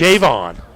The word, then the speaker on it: Javon: Javon. Going to put the emphasis on the first syllable.